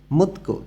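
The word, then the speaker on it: 묻고: স্রেগি ফরিনুন ববে আবর্জনা ফেলার নিয়ম, থেহে সম্পর্কে, মুতকো জিজ্ঞাসা করা, গো দিয়ে এবং বুঝাইতেছে। তধ্বনির বাচ্চিমের পরে গেয়ক আছে, এখানে গটা ক উচ্চারণ হবে। মুতকো জিজ্ঞাসা করা এবং থেদাফালসু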